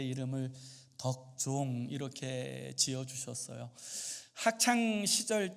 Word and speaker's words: 덕종: 어 제가 태어났을 때에 저도 어 하나님 앞에서 참 덕스러운 어 종이 되기를 원하셔서 제 이름을 덕종 이렇게 지어 주셨어요. 학창 시절 때에는 아이들이 발음을 잘못해 가지고 독종 뭐 이렇게에 부르는 아이들도 있긴 하였습니다만는 어 그 이름대로 살려고 하는 그 마음이 아직도 저에게에 많이 있습니다.